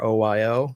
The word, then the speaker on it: Arroyo: The Arroyo, I'm not sure if I'm pronouncing that right. It's Arroyo.